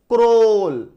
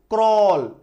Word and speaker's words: crawl: तो AOE का जो साउंड है वो छिप जाएगा, सिर्फ और सिर्फ W का साउंड आएगा, CRAWL, क्रोल, क्रॉल, है ना, क्रॉल मतलब